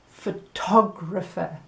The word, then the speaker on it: photographer: Contrast that with photographer, then it's tog, isn't it, that has the stress.